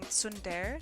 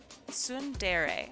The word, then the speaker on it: tsundere: You guys ripped on me before for pronouncing it wrong. Sundere? Fuck. I think it's a real that word thing. Tsundere.